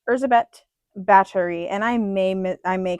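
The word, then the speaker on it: Báthory: Um, she is more commonly referred to as Elizabeth Baie, but uh her name is pronounced et Battery.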